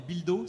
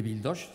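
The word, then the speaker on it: bildotx: Vos produits phares, donc, ce sont, je ne sais pas s'ils prononcent bien encore, les bildos, c'est ça? Les bildoches, ça c'est les agneaux. Bildoche, pardonnez-moi.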